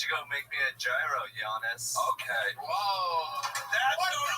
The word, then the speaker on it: gyro: Why don't you go make me a gyro, Giannis? Okay. Whoa. That's over the line. Toothpaste. That's racist. I'm half Turkish. I did my DNA. I'm a rape baby. So. And it's pronounced Euro.